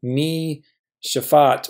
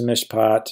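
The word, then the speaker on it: מִשְׁפָּט: have been debating, do we have mi shafat or something? But we actually are going to affirm, yes, this is a noun, not a verb. And because this is a dagesh lene, this has to be a silent shava. So our structure is mishpat, and we've seen this many times now.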